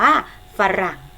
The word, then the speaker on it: ฝรั่ง: ว่า สั่ง นะ คะ ไม่ ได้ ออก เสียง ฝา กับ รอ เรือ พร้อม กัน แต่ มัน เป็น อักษร นำ ค่ะ ลูก มัน จะ ออก